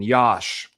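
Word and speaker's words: Iași: Council of Jerusalem says in Yash, by the way, is how you pronounce it.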